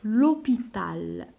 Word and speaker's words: l'hôpital: alors pas loin de l'hôpital. L apostrophe H O P I la lettre T A L. pas loin de l'hôpital. نديروا L apostrophe parce que عندي هنا un H muet.